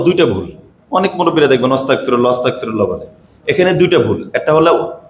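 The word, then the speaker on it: أستغفر الله: এটা কাফ যদি হয় এজন্য আমরা যারা পড়ব আস্তাগনটা উচ্চারণ করে আস্তাগফিরুল্লাহ বলব এক আর যদি বলি ওস্তাগফিরুল্লাহ এর অর্থ হল তোমরা সবাই মাফ চাও আস্তাগফিরুল্লাহ তোমরা সবাই মাফ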